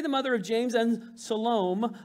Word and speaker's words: Salome: mother of james and salome that's just fun to say it looks like salami if you say it wrong all right shalom brought